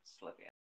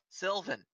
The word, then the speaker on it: Sylvan: Let's take a Right, Slivian. Slivan. Sylvan.